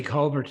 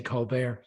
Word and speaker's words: Colbert: Um sorry, Scott, I like the way you say Colbert, which is the way the Irish pronounce it and and the Americans tend to say Colbear. Oh, no. We're I'm going Colbert.